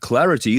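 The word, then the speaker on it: Claroty: could expose devices to remote attacks researchers at Clarity that is CL a r o t y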